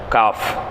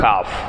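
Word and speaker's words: قاف: மேலோட்டமா போகும் இன்ஷா அல்லாஹ் காஃப் காஃப் நாவின் நடுப்பாகம் மேல்முரசில் லேசாக படுமாறு உச்சரிப்பது நாவினுடைய நடுப்பாகம் மேல்முரசுல லேசாக படுமாறு உச்சரிப்பு காஃப் சரிங்களா காஃப் கிதாப் அல்லாஹ்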